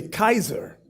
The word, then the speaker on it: Caesar: So now what Yuri did, they want us to use the word that pronounce it Caesar. They're telling you it's really Kaiser.